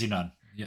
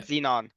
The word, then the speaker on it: Xenon: Yeah, that's how you say it. Xenon. Yeah, Xenon. Uh, so uh like the noble gas.